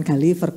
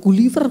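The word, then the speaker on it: Gulliver: dulu Enggak bisa bacanya bukan galiver guliver guliver gitu kan Git Berti guliverguliver ya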